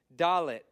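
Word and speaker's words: דלת: sound hard G GG doet D sound hey h sound H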